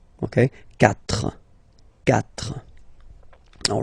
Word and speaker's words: quatre: So you get this Q-U-A, but then the sound that you will pronounce is K, okay? Quatre, quatre.